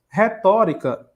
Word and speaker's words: retórica: Então, olha só, retórica é uma proparoxítona. Deixa eu marcar aqui, ó. Por que que é proparoxítona? Porque a sílaba tônica é antepenúltima, ó.